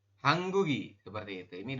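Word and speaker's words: 한국이: Jadi nanti dibacanya adalah seperti ini. Hangguk terus ditambah dengan en. Atau ya Yorobun. Atau hangguk kemudian tambah dengan i seperti ini. Hanggugen ya, hanggugen seperti ini dibaca. Nanti ini hanggugi seperti itu. Perubahannya jika ditambah dengan partikel subjek maka dibacanya itu jadi hanggugen. Ya, kemudian yang ini hanggugi seperti itu. Bukan hangguk bukan hangguk en, tapi hanggugen seperti itu. Jadi gioknya ini naik ke sini nanti dibacanya.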